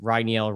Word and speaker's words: Rainiel: take a photo with Rainiel Rodriguez. And you say it Rainiel, like a rye, like a whiskey, is how you say it.